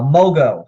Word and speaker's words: Mogo: down to a mention mogo mo money go get me some this gets ridiculous very